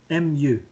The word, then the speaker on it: mu: MU. M. Okay. U. Mu. Sounds funny, but that's how you say it.